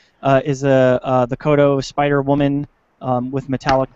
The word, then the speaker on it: Kotobukiya: so uh koto boo how do you say it sean i think i usually just call it kodo but kotobukiya kotobukiya thank you yeah yeah that's that's